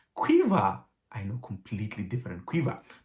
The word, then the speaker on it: Caoimhe: and she said no actually that name is pronounced cueva i know completely different quiver but apparently that's